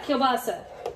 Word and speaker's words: kielbasa: past use pulse pulp kielbasa polska kilbus how do you say that ricky is that right did i just butcher that polska kielbasa yes i've used that in